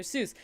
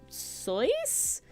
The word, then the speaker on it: Seuss: Seuss and we're like so Dr soyce what and they're like yes nose actually how it was originally pronounced but then people mispronounced it and they just kind of went with it no last name all